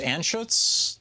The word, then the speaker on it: Anschutz: Any discussion of Philip, is it pronounced Anschutz, the billionaire who basically is responsible for Gorsuch's career?